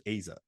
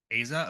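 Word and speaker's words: Eiza: because it is a Gonzalez I heard her pronounce it as Aza Aza okay yeah it's the one I'm always like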